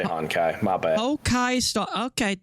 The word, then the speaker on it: Honkai: Hokai Star Rail is a bit more. Did he just call it Hokai Star Rail? Yeah, I didn't put the N in there. It did say Honkai.